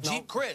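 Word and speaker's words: Geep Chryst: But Colin Kaepernick, the quarterback, has an offensive coordinator in Jeep Christ. I believe that's how you pronounce his name. Right. G-E-E-P. Yep. Jeep Christ. You got it.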